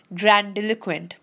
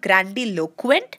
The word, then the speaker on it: grandiloquent: this here it's not grandiloquent it's grandiloquent so the stress is coming on the bill part of it okay so grandiloquent not grandiloquent okay grandiloquent